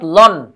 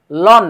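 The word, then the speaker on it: ln: এটাকে সংক্ষেপে লিখতে পারি এল এন অর্থাৎ লন লন উচ্চারণটা কি এইযে বাংলায় ল দন্তান্য লন লন এরপরে আর্গুমেন্ট যেটা সেটা পাশে বসে পড়বে।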